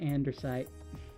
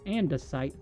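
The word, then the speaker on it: andesite: I'm sorry, but I hate the way you say andite. Ah, don't feel bad. Apparently, I've been saying it wrong all this time. It's andesight.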